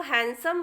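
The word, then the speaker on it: handsome: करना है जैसे देखें पहला लिखा है हैंडसम और इसको हैंडसम बोला जाता है डी को नहीं बोला जाता इसी प्रकार हैंग हर्षित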